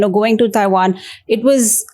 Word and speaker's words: Taiwan: it right it's Taiwan I think in India we instinctively tend to say Taiwan but in English it's actually not wrong so it's taian in English but then it's a it's pinan Taiwan Taiwan the local pronunciation will be Taiwan that's more proper so for proper introduction